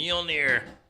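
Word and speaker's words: Mjölnir: How do you The pronounce it? Mjolnir.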